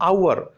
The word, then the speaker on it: hour: और यहां देखिए HOUR, इस एच लेटर को मत देखिए, साउंड देखिए जो आपको इस वर्ड का प्रोनाउंसिएशन करने पर पता लगेगी। इसको बोलेंगे हम आवर, तो यहां पर आ